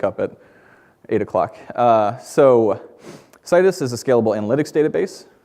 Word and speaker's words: Citus: you may have noticed I'm pronouncing it like Midas it's cus um we make cus